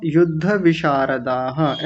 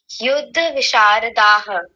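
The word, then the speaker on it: युद्धविशारदाः: कमी तो यह है आपने विसर्ग छोड़ दिए थे यहां पर ये दोनों त्यक्त जीविता युद्ध विषारदाह ऐसा बोलेंगे बोलिए तक्त जीविता युद्ध विषारदाह हां जी बहुत बढ़िया।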